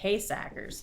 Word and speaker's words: Heesacker: The name Heesacker is Dutch, and the Dutch pronunciation is Heesackers.